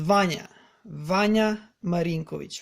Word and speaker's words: Vanja Marinkovic: So he's not Vanja or I don't know what. He's Vanja Marinkovic.